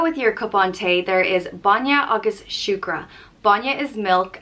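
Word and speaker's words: bainne: are there's different dialects i'm in leinster so a lot of these words are being pronounced with a leinster pronunciation and shukra is sugar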